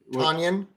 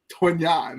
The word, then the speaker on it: Tonyan: Tonyan. Tonyan.